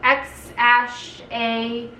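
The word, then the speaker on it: X Æ A-12: of letters and numbers apparently pronounced x-a-12 the last thing for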